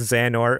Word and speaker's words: Xehanort: get it for you you might need to help me with some of this pronunciation go project project Xion or zan or okay cool I wouldn't have thought that project zan or will explore zan orts